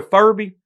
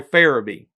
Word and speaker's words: Farabee: We'll call him Roy Furby, but it's pronounced Roy Farabee.